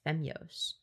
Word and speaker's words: Femyoz: Femios. It's pronounced femos.